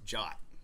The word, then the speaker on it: JWT: And in 7519, you will learn that the official pronunciation for JWT is Jot. So I will periodically be saying Jot during this talk and I mean JSON web tokens.